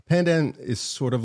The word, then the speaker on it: pandan: Pandan. Pandan.